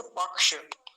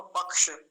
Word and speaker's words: पक्ष: जिसका लंबा अभ्यास हो अगर य बीच में आ जाए तो फिर बड़ा अच्छे से उच्चारण होता है जैसे पक्ष देखि कितना अच्छे से उच्चारण हुआ पक्ष कैसे लिखेंगे इसको प